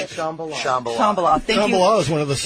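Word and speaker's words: Shambala: Shambhala.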